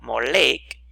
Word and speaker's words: Moloch: tradicionalmente se ha interpretado moloch como el nombre de un dios probablemente denominado el rey pero pronunciado a propósito como mo lake en vez de emelec utilizando las vocales de la palabra hebrea boxset por otra parte se